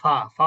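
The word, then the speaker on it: ف: কিন্তু ফা উচ্চারণটা কি? সহজ। এটা হচ্ছে বাংলা ফ এর মত অনেকটা ফা ফি ফু কি হবে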